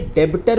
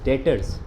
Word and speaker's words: debtors: डेटर में ना, इसको कई बच्चे डेबिटर पढ़ते हैं। बेटा ये डेबिटर नहीं होता, द बी is silent over here, we should read it एज डेटर्स।